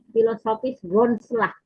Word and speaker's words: Philosophisch grondslag: Philosophisch grondslag.